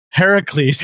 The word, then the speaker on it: Heracles: Heracles.